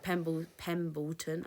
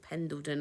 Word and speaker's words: Pendleton: Woolrich, without checking comps, I would expect they're quite well known, like Pembleton. I always say it wrong. Pendleton.